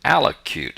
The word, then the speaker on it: allocute: public is how you allocute it's what you say and you should pay very close attention to that luke part it's spelled loc in this case sometimes it's loq it comes from the